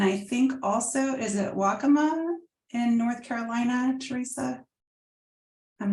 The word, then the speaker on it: Waccamaw: County California and I think also is it Waccamaw in North Carolina Teresa I'm not sure you mean the pronunciation or the tribe the tribe both actually yeah it is pronounced Waccamaw and yes they are from North Carolina okay